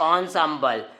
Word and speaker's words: ensemble: लिखते हैं एनसैम्बल लेकिन पढ़ते हैं ऑनसैम्बल।